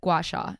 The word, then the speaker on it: gua sha: Gua sha. One more time. GUA. I don't need to spell it.